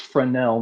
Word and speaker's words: Fresnel: So, uh, but it's pronounced frenel. No s sound, but it has an s in it.